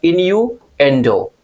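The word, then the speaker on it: innuendo: Pronunciation का ध्यान रखिएगा, इन्यूएंडो। इन्यूएंडो पूरा क्या बोलेंगे?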